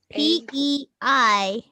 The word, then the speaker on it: peignoir: It's PEIGNOIR. Oh no. Oh no. Oh, PEIGN? E-N. PEIG as in go, NOIR. P-E what? P-E-N. PEIGNOIR. G, like G is in go.